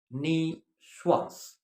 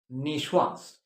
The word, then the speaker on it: niçoise: Nicoise. You'll see it in certain restaurants. Nicoise, but please keep it in mind, it is pronounced niçoise. Okay? It is pronounced niçoise.